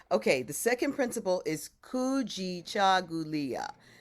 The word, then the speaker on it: kujichagulia: Okay, the second principle is kujichagulia. Kujichagulia. That's 7 syllables. Kujichagulia. But we kind of make it 8 because ku is ku'u, right? Kujichagulia. So it's still 7.